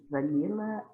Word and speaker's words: vanilla: A pronúncia é essa mesmo, gente. Pie, mãe, né? Pie. Ok? Apple pie. Vanilha. Vanilha. Vanilla.